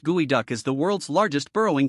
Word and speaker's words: geoduck: The geoduck pronounced gooeyduck is the world's largest burrowing clam.